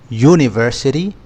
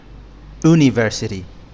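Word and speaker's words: university: قلنا ا رغم ان الكلمه بتبدا بيو لان النطق بيبدا بيو يعني صوت ساكن يعني يونفرسي مش اونيفسي ملحوظات مهمه ان بتيجي لما الكلمه بتبدا بصوت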